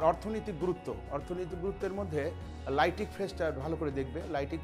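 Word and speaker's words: lytic: গুরুত্ব অর্থনৈতিক গুরুত্বের মধ্যে লাইটিক ফেসটা ভালো করে দেখবে লাইটিক ফেস মানে কিন্তু এটা গলন পর্যায়ে আর কি এটা লাইট মানে আলো নয় বানানটা ভালো করে দেখে নেবে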